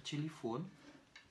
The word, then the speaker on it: телефон: Pour écrire téléphone, T, Y, L, Y, F, O, N, avec une accentuation sur la dernière syllabe, ce qui va rendre nos deux premiers Y réduits à des petits I.